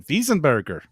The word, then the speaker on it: Weisenberger: grits made at the weisenberger mill or if i was to say it correctly in german wiesenberger that's not how they